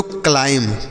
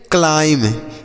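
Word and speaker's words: climb: हो गया सोना आगे सी एल आई एम बी इसे हम पढ़ते हैं बच्चों क्लाइम क्या पढ़ेंगे क्लाइम यहां पर क्लाइम नहीं पढ़ेंगे जो बी लिखा गया बच्चों यह साइलेंट है मतलब इसे हम नहीं पढ़ेंगे तो क्लाइम का अर्थ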